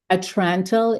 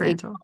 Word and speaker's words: Atrantil: Atrantil is a Atrantil, yeah.